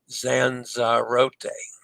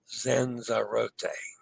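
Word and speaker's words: Lanzarote: Tenerife has accepted pronunciations Tenerife from Spanish, and the anglicized Tenerife Zanzarote is properly pronounced Zanzarote. Zanzarote.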